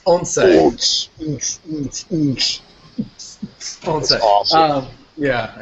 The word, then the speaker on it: Once: I actually had to figure out how to pronounce that because I was about to say Once. But it's Onse.